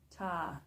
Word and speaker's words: Ptah: Ta, Nut, Geb, and Anubis. And Ta is spelled PTAH.